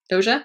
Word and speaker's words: Doja: so by dosha cat doja is how you say it George Cat Cat noise